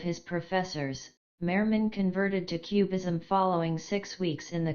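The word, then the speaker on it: QBism: this is an interpretation known as Quantum bastionism abbreviated as cubism pronounced cubism it is entirely subjective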